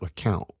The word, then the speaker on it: LeCompte: Well, it's spelled LeCompte, but there in LeCompte, they pronounce it LeCount.